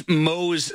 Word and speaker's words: Mohs: So, and then what's Mohs surgery? Am I pronouncing that right?